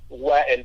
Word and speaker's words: Wael: But our it's pronounced wagon, by the way. It's an Arabic name.